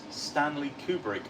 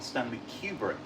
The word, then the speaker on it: Stanley Kubrick: to ask a Brit do you pronounce Stanley kubric or Stanley cubric Stanley Kubrick I think Stanley Kubrick that's my answer and I'm sticking with it uh uh SN saying